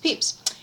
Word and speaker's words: Pepys: the diaries of samuel peeps and it turns out that peeps even though it's spelled p-e-p-y-s is not spelled peppas but not pronounced peppas but pronounced peeps anyway here it is